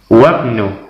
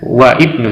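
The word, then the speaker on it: وَابْنُ: Ibnu Khalidin fil Madinati wabnu Hamidin fil Jamiah, ya. Wabnu, bukan wa ibnu, tetapi langsung wabnu Hamidin fil Jamiah, anaknya Hamid di universitas, ya.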